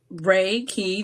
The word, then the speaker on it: Reiki: universal life force energy so raiki Ray key the if you break that down in Japanese it's Universal energy like or Chi or key right so you're receiving a